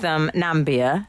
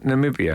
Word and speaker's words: Namibia: He misspoke with Nambia as well, didn't he? Instead of Namibia.